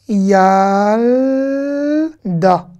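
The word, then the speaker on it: ילדה: Yal, da. En fait, là, il y a deux syllabes. Il y a quatre lettres, mais il y a deux syllabes. Yal, da.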